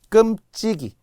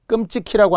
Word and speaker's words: 끔찍이: 이런 거 하는데요 고진기 끔찍이 끔찍 키라고 하는 분이 있어요 손주들을 할머니께서 끔찍이 아껴 주셨어요 끔찍이 그죠 그 이외에도